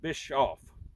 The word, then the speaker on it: Bischoff: day my name's bischoff b-i-s-c-h-o-f-f you can find me on facebook and friend me on there too the c is silent when you pronounce it so it's just bishop bischoff don't know why they